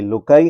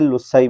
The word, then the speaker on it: loci: आज बच्चों हम class 9 mathematics unit 11 लोकाई LOCI लोकाई and construction, इसको लोकाई भी कहते हैं, लोसाई भी पढ़ते हैं। तो आपने जो प्रोनाउंसिएशन करनी हो कर सकते हैं।